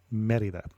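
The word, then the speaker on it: Mérida: very fond memories of Merida, Mexico. And let me try once to say the name of the place correctly with a Spanish pronunciation. It is more correctly Merida.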